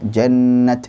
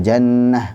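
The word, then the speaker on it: جنت: Coba ini jannat atau jannah. Nah, kemudian baca jannat. Oh ya, benar. Jadi kalau baca jannah, oh salah. Ini rosemnya apa? Tak maftuha. Harusnya bacanya tak maftuha dengan tak. Jannat.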